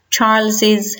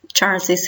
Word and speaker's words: Charles's: the name Charles but the pronunciation in both cases should be audible in both cases you should pronounce Charles's house or Charles's house in both cases